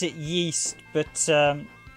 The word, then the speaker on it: Ys: friend isn't it um the gains pronounce it yeast but um ragna gain the coast jump i always pronounce it wise i think it's actually supposed to be pronounced yeast but i think in gain they pronounce it